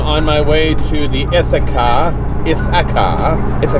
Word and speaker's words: Ithaca: morning everyone I'm on my way to the Ithaca if a car is a car beer company